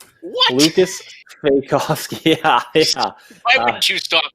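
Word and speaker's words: Svejkovsky: So, Andrew, I want you to tell me a little bit about him and how to actually pronounce that last name. Sveikovsky. What? Lukas Sveikovsky.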